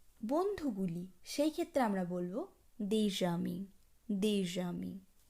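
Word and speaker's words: des amis: এই ক্ষেত্রে আমরা বলবো দেজামি, অর্থাৎ এসের সঙ্গে পরবর্তী আ ভাওয়েলটি একত্রে উচ্চারণ হবে দেজামি।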